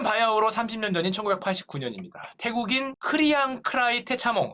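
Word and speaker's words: Kriangkrai Techamong: 태국인 크리앙 크라이 테차몽. 이름 어렵습니다. 제가 이거 영어로도 확인해봤는데 맞아요. 크리앙 크라이 테차몽. 자꾸 발음이 크랑 헷갈리는데 크리앙 크라이 테차몽이 사우디 왕자 부부의 청소부로 일하고 있었습니다.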